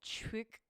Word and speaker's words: CHIQ: is pronounced like chick.